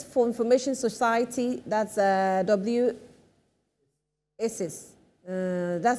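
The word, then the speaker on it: WSIS: world s summit for information society that's a w isis that's how you pronounce it tunisia and then uh cto connecting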